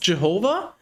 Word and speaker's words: Jehovah: his name no his name is this it's pronounced jehovah but it's it's spelled something like that i